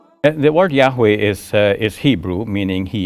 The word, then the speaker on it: Yahweh: Bible in the Bible only the four consonants are mentioned why HWH and Scholars now fill it out to say that Yahweh is the best pronunciation now according to the